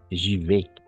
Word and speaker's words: j'y vais: J'y vais. Je vais. Oui, exactement. A, I, toujours E. Siempre va a ser A más I, E.